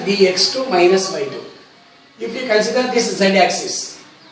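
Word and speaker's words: dx²−y²: Some people pronounce it as dx square minus y square, but it should be pronounced as dx2 minus y2.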